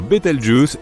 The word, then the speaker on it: Bételgeuse: supernova pour le moment quant à la manière de prononcer correctement Bételgeuse tu peux le faire comme bon te semble tu peux même dire beteljuice si tu en as envie la supernova 1987A a